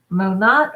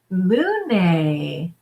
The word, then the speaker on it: Monat: do it, Juliana, or mo and then nay, like nay. Tell me which one, and then I'll know how to pronounce it. Monat or Monet? Monet. Ooh, it's Monet. But it's definitely nay.